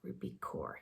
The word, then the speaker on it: Rupi Kaur: poem called timeless by rupee core ruby core ruby core yeah that's pronouncing it correctly um sorry it takes